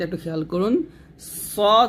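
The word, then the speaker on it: ص: বলছি সিন জের শেদ সদ এবং সিনটা একটু খেয়াল করুন সদ হবে মোটা সিন হবে পাতলা জিব্বাটা নিচে দাঁতে লাগবে তবে সদর বলতে হবে মোটা করে সদর আর এটা হবে সিন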